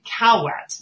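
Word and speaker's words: CAAWT: going to mention the i think they're saying cow wet is how they're pronouncing it the the constructional approach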